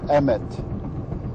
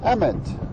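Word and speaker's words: אמת: tau and it's pronounced Emmett Emmett same as the first name of the main character in the new lego movie well I meant means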